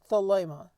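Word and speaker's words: θέλημα: So the word here is thelema. So we get the pronunciation.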